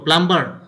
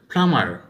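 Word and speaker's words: plumber: আবার ধরো এটা কি আমরা কি বলবো, প্লাম্বার, না এটা হবে ফ্লামার, ফ্লামার।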